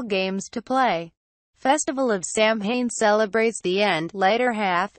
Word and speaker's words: Samhain: it clearly related to the celtic festival of Samhain which was originally called salmon pronounced soin or so when the name is derived from old irish and